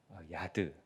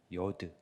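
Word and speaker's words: יוד: 무언가에 팔이 닫혀 있는 문에 향해서 나아가는 어떤 손의 의미를 손이라는 글자가 이게 히브리어에서는 야드, 요드, 유드 이렇게 발음하게 되는데 이 요드라는 그러니까 글자 자체가 손을 의미한다 이렇게 보시면 되겠습니다.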